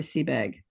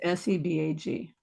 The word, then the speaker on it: Sebag: So I yep, highly recommend Jordan's discussion with Roy Seabag. awesome. Sebag. Sebag, got it. Maybe it's pronounced Sebak or something. I don't know, but Oh no, it's Sebag.